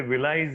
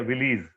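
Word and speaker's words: villi: Finger like projections दिखेंगे, जिसे विलाइज या विलीज जैसे भी प्रोनाउंस कीजिए।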